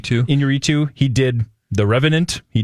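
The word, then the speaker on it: Iñárritu: As I believe that's how you pronounce his last name. Inarritu.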